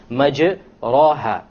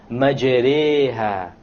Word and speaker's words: مَجْرِيهَا: If you were to not know what an imala is, you would say majraha, but that's a mistake. You have to pronounce it with an imala. An imala is pronounced as this, majreha, majreha.